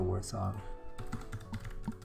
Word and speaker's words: warthog: that one a warthog well it's got an H after the T so yeah wart hog worth it worth Thug